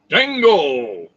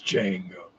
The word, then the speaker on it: Django: want a django figure dango the name is jango the d is silent they call me django the